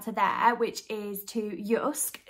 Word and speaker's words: JYSK: there which is to yusk that's how it's pronounced because it's a Scandinavian store but you might have